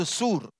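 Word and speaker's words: צור: அதை ப்ரொனவுன்ஸ் பண்ணும்போது சூர், தமிழில் நோட்ஸ் எழுதுறவங்க அதை எழுதி கொள்ளுங்கள்.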